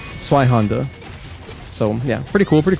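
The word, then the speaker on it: Zweihänder: So anytime you have a ZW in German, it makes like a TS kind of sound. It's like Zwei. Something like that. So it's like Zweihander.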